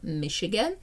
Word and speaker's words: Michigan: І слово Chicago, і озеро Michigan. Ch читається як Ш.